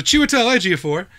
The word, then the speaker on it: Chiwetel Ejiofor: it and I like that about myself so Chiwetel Ejiofor he played Mordo and dr.